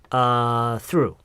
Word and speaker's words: through: 똘 아니고요. 굳이 쌍디귿과 리을로 발음을 굳이 한다면 뜨루에 더 가까워요. 뜨루. 근데 그거를 뜨가 아니라 th 발음. 그리고 중간에 의가 없어요. 그냥 바로 through. th 하면서 r 발음을 동시에 이미 하면서 시작을 해야 돼요. through.